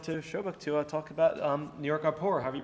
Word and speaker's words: NYAAPOR: So starting with how to pronounce NYAAPOR.